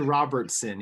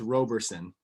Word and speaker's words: Roberson: it wrong you did robertson it's roberson no t oh my god yeah